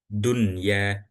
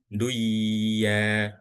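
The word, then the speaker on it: دنيا: Dunya dunya bukan duya bukan ya dunya gitu.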